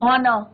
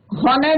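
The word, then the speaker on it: honor: तो हॉवर नहीं कहना आपको, हॉनेस्ट नहीं करना है, हॉनर नहीं बोलना है, ऑनर बोलना है, राइट।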